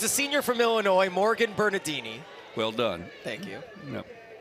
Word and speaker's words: Morgan Bernardini: So it's a senior from Illinois, Morgan Bernardini. Well done. Thank you. Yep. Apologies for the first inning mispronunciation.